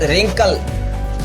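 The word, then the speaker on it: wrinkle: Third one इज रिंकल, इसका मतलब होता है झुर्रियां।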